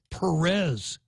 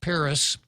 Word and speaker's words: Perez: course it's not Perez it wouldn't be Perez in Spanish it wouldn't be Perez in Chamorro it's properly pronounced Paris and the only reason